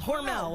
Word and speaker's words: Hormel: How do you pronounce it, Tia? Hormel.